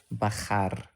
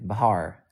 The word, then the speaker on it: Bakhar: I like how Americans call me Bahar. Hello, Bahar. Bahar. Cute. Haven't seen you for a while, Bahar. That's an interesting name, Bahar. Or sometimes they think that the K is silent. Something like Bakar.